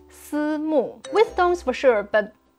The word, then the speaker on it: Simu: So instead of si wu, we will call him si mu.